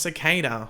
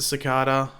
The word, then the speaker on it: Cicada: And yes, for those going Pagey, it's pronounced Cicada. Look, I pronounce it Cicada. Others do as well. It's like tomato, tomato.